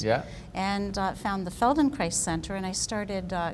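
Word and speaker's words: Feldenkrais: what was it called it was called Feldon Christ oh I see okay so it rhymes with Paradise Feldon Christ yes yes yes very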